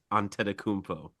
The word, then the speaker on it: Antetokounmpo: So I will say it is Antetokounmpo. Very good. I actually read it down phonetically because I never say it right either.